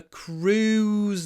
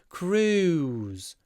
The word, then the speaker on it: cruise: friend works on a cruise liner one syllable Cru not Cruise Cru o CR oo two sounds CR oo CR ooze but not two syllables Cruise Cruise liner on a